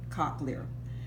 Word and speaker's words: cochlear: called the cochlear co h le are the pronounced cochlear K Ock cochlear this would be the heart if we want